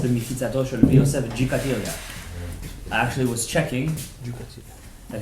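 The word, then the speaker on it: Gikatilla: This is the Mechitzato Shel Rabbi Yosef Jikatilia. I actually was checking that his real name is pronounced Chikatilia. Chikatilia.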